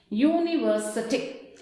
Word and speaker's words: university: University. See how you wrote a unit. In the same way we are going to pronounce university. It gives the sound of Y-U.